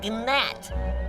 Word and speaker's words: gnat: You know, we both work for the king, but compared to me, you are a gnat. It's a G. Silent. It's Nat.